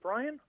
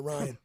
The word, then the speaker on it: Ryan: your guest is it brian uh no well the b is silent it's uh ryan yes sir yeah i